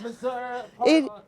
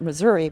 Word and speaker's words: Missouri: See, I would pronounce it Missouri, but from what I understand, it's pronounced Missouri.